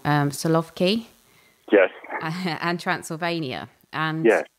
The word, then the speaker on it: Solovki: So talking about people who live in very much an agrarian society, you've done projects in, I think I might pronounce this wrong, Solovki?